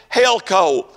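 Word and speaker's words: ἕλκω: of these uh instances is helco if I'm pronouncing that correctly h e l Koo uh the uh definition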